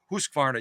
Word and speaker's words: Husqvarna: tomorrow as I present this contemporary Viking Husqvarna Husqvarna yeah I said it right Viking Husqvarna Designer